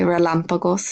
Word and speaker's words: relámpagos: There's some pretty fun words to say, relámpagos especially. Make sure you hit the accent on the A, but that does mean there's thunder and lightning.